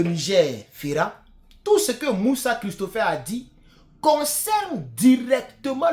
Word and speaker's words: Mussa: Christopher Moussa, son Moussa, c'est pas la même chose comme le Moussa que nous connaissons. Son Moussa, je crois que c'est M-U-2-S-A. Voilà. Mais c'est pas grave, c'est la même prononciation.